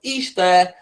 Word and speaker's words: Ishtar: Semiramis became known as Ishtar, okay, which is pronounced Easter, and her moon egg become known as Ishtar's egg.